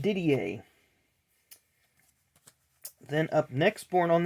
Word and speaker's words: Didier: don't I don't recall exactly but that is pronounced Didier then up next born on the state in